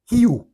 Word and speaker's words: Hu: Alors, Hu, H-U, se prononce Hiu, est un ancien chant d'amour à Dieu.